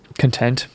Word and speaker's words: Content: Oh, Content. Emphasis on the syllable matters.